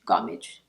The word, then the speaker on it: gommage: truffle therapy polishing micro exfoliating truffle face gommage gommage pronounced like that okay let me give you a